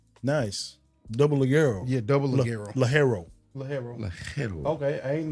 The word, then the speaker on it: Ligero: Yeah, Double Ligero. Ligero. Ligero. Okay, I didn't know that was a GOH. No. That's how you pronounce it.